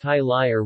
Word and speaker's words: Tai Laing: tie line pronounced tie liar regionally tiny is a